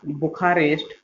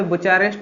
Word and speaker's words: Bucharest: Romania की capital है बुखारेस्ट। ठीक है। देखिए ये लिखा हुआ है BUCHAREST। यहाँ पे बुचारेस्ट लिखा जाता है इंग्लिश में, लेकिन बुखारेस्ट हिंदी में इसे प्रोनाउंसिएट करते हैं, तो उस पर ना जाएं।